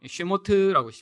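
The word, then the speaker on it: שמות: 자, 두 번째 그럼 출애굽기는 어떻게 히브리어로 읽나요? 쉐모트라고 읽습니다. 쉐모트는 이름이라고 시작해요, 처음에.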